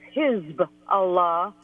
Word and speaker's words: Hezbollah: thing I'll notice that I'm always very careful to pronounce the name of his fella as his Allah because what that means actually and you only get the meaning when you pronounce it that way it's party of God yes Bala is an